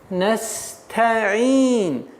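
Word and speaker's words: نستعين: Не нужно стараться опережать время и переходить на айн, не произносив звук та. Не торопитесь. Нужно сперва произнести та, нес, та. А потом мягче, плавно переходите на айн. Ин. Настаин.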